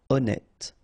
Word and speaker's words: honnête: So remember, H doesn't exist. Honnête.